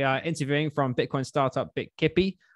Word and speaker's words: Bitkipi: And today we are interviewing from Bitcoin startup Bitkipi. I think that's how you say it. Bitkipi. Yeah, Bitkipi, correct.